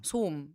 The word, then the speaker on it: 소음: 오로 보통 외국인들이 그냥 오로 연결해서 읽을 때가 많아가지고 소음 이렇게 소음. 발음 잘 안 들어가고 음을 좀 입을 이렇게 찢어서 뭔가 발음을 해야 되니까.